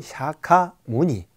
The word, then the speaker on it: 석가모니: 느끼며 부르고 있습니다 아 또 다른 이름은 석가모니 에 원래 인도 발음은 샤카 뭐니 입니다 석가모니는 에 불교를 창시한